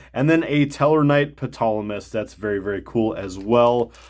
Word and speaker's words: Ptolemy: then a Teller Knight Ptolemy. That's very cool as well. I know I'm not supposed to pronounce the P. Ptolemy.